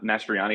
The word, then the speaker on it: Mastroianni: my name's um mastriani is how you say my last name in case it's an emergency and the same as Mar mastriani the actor Yes Yes actually